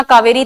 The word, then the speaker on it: कावेरी: Now Mahanadi, Godavari, Krishna, कावेरी। यहां पर कावेरी की इंग्लिश स्पेलिंग लिखी हुई है। आजकल अपन यूज़ ये नहीं करते हैं। के ए वी ई आर आई कावेरी बोलते हैं।